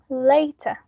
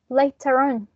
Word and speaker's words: later: a non-rhotic accent, because we don't pronounce final R sounds.